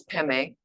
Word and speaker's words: Padme: Om Mani Padme Hum. Okay. Mani is jewel. Peme or Padme, the way it's written, but the Tibetans pronounce Peme, okay, is lotus flower.